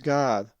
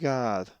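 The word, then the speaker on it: Γάδ: So the Greek word again is pronounced God.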